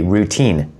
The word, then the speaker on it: 루틴: So routine is basically routine, but we pronounce it routine. So it's slightly different, right?